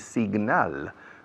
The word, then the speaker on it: signal: Señal en inglés es signal. Okay? Se pronuncia signal. La G se pronuncia muy bien, se oye bien.